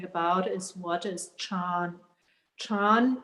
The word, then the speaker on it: Chan: is what is chan chan is the chinese word for the more known word zen then and it's actually the same chinese character with one chinese and one japanese pronunciation and actually in one